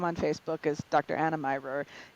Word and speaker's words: Mirer: Facebook is Dr Anna myor it's uh and pronounced like a secret admirer just Lop off that first syllable amazing all right well